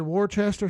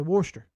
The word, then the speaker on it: Worcester: Worchester or swamp Scott so you said war Chester so down here we'll say Worcester all right hope the